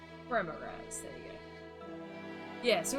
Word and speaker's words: Remorhaz: How do you pronounce it? Remorhaz. Remorhaz, there you go.